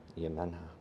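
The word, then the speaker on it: Iemanjá: That's Brazilian, so I don't think he'd pronounce the J. Yemenha.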